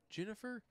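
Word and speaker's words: Ginnifer: know jennifer goodwin no g-i-n-n-i-f jennifer it's like jennifer but they spell it out jennifer and i think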